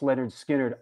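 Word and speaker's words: Lynyrd Skynyrd: I I I I love the sighting of pronounced Leonard skinnard I I I love that record growing up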